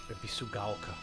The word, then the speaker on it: Ebisugaoka: Ebisugaoka.